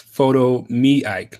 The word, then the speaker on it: Photomeike: It's kind of like a play, you know, like take a picture of me, photo me.